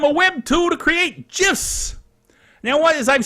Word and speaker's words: GIF: Now, as I've said before, GIF is pronounced GIF, not GIF. I know a lot of people think that they're being really smart by trying to say GIF. But GIF is GIF.